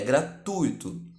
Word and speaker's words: gratuito: hiato então a correção a pronúncia culta de gratuito é gratuito com a tônica no u do ditongo ui trata-se de uma trata-se